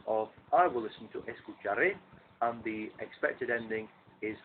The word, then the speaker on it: escucharé: Escucharé. So your intonation has to go up on the last syllable of the word.